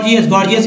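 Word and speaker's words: gorgeous: इसका देखिए गॉर्जियस means होता है भड़कीला या खूबसूरत।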